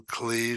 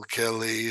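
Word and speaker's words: כְּלִי: I pronounce the kaf with the shava because the shava is a shava na. That's when there's a dot in the letter, the shava becomes a shava na. El keli.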